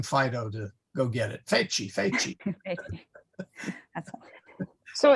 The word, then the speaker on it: feci: Yes, sorry, Feci. feci. Yes. Yeah, you're telling Fido to go get it. Feci, feci.